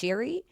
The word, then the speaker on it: Seary: Um, apparently it's Irish and so it's pronounced Sherryi.